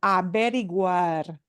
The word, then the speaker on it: averiguar: Averiguar. Averiguar. There we have to pronounce that G-U-A, and those U-A combinations and A-E combinations, and they're kind of tough ones.